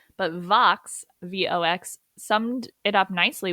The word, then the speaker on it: Vox: yeah, Vox. It's Latin Vox. for voice. Okay, Vox. So, not to be confused with Fox with an F, but Vox, VOX, summed it up